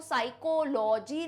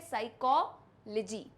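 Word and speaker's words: psychology: Follow करते हैं pronunciation, उसमें कोई भी वर्ड का सफिक्स आखिर में LOGY आ रहा हो, ध्यान से सुनिएगा, आखिर में LOGY आ रहा हो तो उसे अपन लॉजी नहीं कहते हैं, लिजी कहते हैं।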